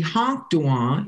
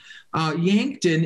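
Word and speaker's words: Iháŋktȟuŋwaŋ: Now, within this confederation, we have the Ihanktuan. Ihanktuan means the dwellers at the end. And Ihanktuan, Yankton is just a mispronunciation of Ihanktuan.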